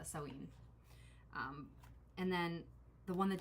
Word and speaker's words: Samhain: witch sewing oracle um i used to pronounce it samhain but i think i think the correct pronunciation is uh sewing and then the one